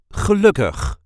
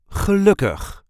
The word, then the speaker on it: gelukkig: a regular Dutch accent gelukkig, which means happy. This is how we say gelukkig. Gelukkig. There is a light emphasis on the second syllable.